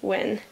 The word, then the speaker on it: Hwin: sticker on my newest win so the H in win is silent there's a slight seam